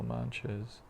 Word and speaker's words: mantra: So kirtan is the chanting of transcendental sound vibrations or mantras. Mantra is a Sanskrit word, 2 syllables, man and tra.